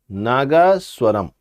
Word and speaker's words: Nagaswaram: me to pronounce this it's nagaswaran nagaswaram so successfully I have pronounce it so what is